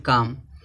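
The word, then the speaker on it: calm: देखो यहाँ दिया एक वर्ड काम, काम में देखो यम है लास्ट में, यम से पहले क्या आया, यल।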